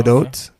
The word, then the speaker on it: Gadot: Gadot.